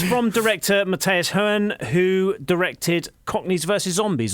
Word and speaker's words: Hohen: So I think it's pronounced Hone. Not everyone has to be Kermode. Right, okay. We love you, Mark. Do love Mark. Yeah, so it's from director Matthias Hohen, who directed Cockneys versus Zombies or Zombies versus Cockneys.